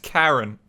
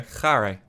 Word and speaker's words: Kharé: Pronounce it Karen? I don't think it's pronounced Karen. We're gonna do Kharé, okay? Kharé. Got a bit of a roll on it.